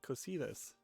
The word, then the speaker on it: Cositus: Yeah, Cositus. That's how you pronounce that.